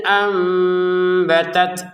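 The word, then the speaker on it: أنبتت: Sekali lagi cara bacanya bukan an biar ambi gitu ya. Jadi, mim kecil ini menandakan nunnya sudah diganti atau dibalik menjadi mim gitu loh. Jadi dibaca am disertai samar am baru bi ambi gitu ya.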